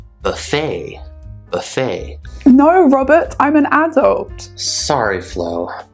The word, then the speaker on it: Robert: or even my name robert when i say my name robert i cut off that sound i don't say robert robert uh what would